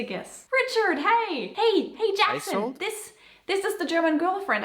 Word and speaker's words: Isolde: And you say it Isolde. Why do I believe that this could be somewhat funny for Americans? Just a guess. Richard, hey! Hey, Jackson! Isolde?